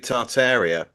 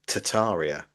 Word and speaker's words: Tartaria: I mean, the the thing with with with Tartaria, um, it's actually you're supposed to pronounce it Tataria, but I I can't.